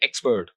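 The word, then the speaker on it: expert: तो यहाँ पर जो पहला सिलेबल है एक्सपर्ट, तो अगर आप जब भी इसको बोलेंगे आप इसको ऐसे ही बोलते सुनेंगे दूसरे लोगों को भी, एक्सपर्ट, ही इज एन एक्सपर्ट। तो यहाँ पे आप देखेंगे कि जो पहला सिलेबल है, फर्स्ट सिलेबल इज स्ट्रेस्ड।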